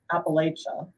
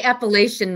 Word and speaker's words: Appalachia: the mountain South so Appalachia I'm pronouncing it incorrectly yeah let's just say Appalachian Mountains Appalachia that's better um but the mountain